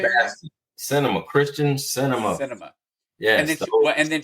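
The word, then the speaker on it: Sinema: that, but you had Manchin and you had Seisma from those how do you say that? Cinema, Christian cinema.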